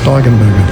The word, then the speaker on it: Steigenberger: That's how you pronounce it, Steigenberger.